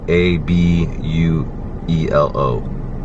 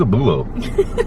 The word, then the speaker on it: abuelo: Well, we say abuelo or abuela as grandma, and it's spelled Abuelo. And she was like, "Who's a bulo? who's a bulo?" Like, that's my grandpa, man. Abuelo.